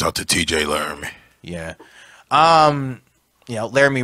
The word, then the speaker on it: Laramie: Laramie rhymes with Jeremy.